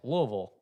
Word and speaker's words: Louisville: I'm impressed you pronounce Louisville.